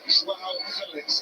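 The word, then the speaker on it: João Félix: It's just on the pronunciation. That's the way he wants it said. Joao Felix, and that's straight from himself before there's the social Come media.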